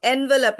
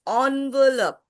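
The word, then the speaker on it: envelope: टॉटीज़ टॉटीज़ okay okay it इज नॉट एनवेलप इट्स ऑनवेलप ऑनवेलप these are the correct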